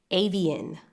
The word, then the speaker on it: Avian: Avian, like the species of birds, like the bird species. An acronym, the letter is AVN. Avian Alia, like the late singer.